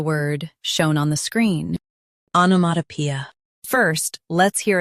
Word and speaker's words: onomatopoeia: Onomatopoeia. US starts with ah. UK starts with o.